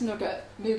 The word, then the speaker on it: nougat: Well, it's spelled with AT. You can't like write it. You can't write it how you pronounce it. Well, No. well, if it's spelled AT, that's nugget, isn't it? No, but it's pronounced nougat.